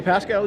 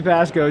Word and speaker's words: Pasco: If you're just joining us, I'm Pascal joined in the booth. I think I just pronounced my last name Pascal like you did yesterday. I'm Pasco, joined in the booth